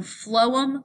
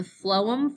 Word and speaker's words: phloem: easy to remember because the pH gets pronounced like an F so phloem moves food from the